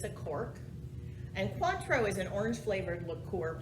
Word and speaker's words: Cointreau: with the c right cuantro is my number that sounds like number four in spanish it's a cork and cuatro is an orange flavored